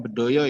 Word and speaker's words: Bedoyo: serimpi dan Tari Bedoyo bacanya Bedoyo ya karena berasal dari Yogyakarta besok kalau kata Jogja